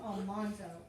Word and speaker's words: Almanzo: married a farmer named um it looks like almanzo so that's easy to make it easy to spell if you just remember al and man and zoe but it's pronounced on monzo and that's where she gets her name laura